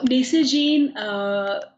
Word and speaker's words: Nacy Jean: So Nacy Jean by Neha Celly originated from the word necessary and pronounced Nacy Jean, a line of completely sustainable products made from all denim industry waste.